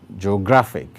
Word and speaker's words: geographic: The last one, geographic, geographic. Now, this one has three syllables as well. And the place with the greater emphasis is on gra. That is why the stroke is placed on gra.